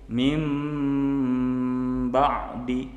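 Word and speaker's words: مِنْ بَعْدِ: Ketika kita masuk ke iqlab, maka cara membacanya berubah menjadi yam bawi, atau min ba'di berubah menjadi mim ba'di.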